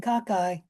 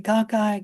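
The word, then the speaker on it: cocci: It does kind of depend on where you are in the world where uh you which which pronunciation you use.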